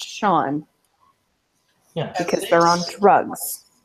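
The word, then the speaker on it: Seán: language so that come like Sean spell s an is it has roots in the Gaelic language and that's why it spelled Cen and pronounced Sean yeah because they're on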